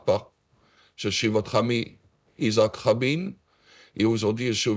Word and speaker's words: Isaac: On prononce en français Isaac, en hommage justement à certains personnages de la Bible qui vous accompagnent et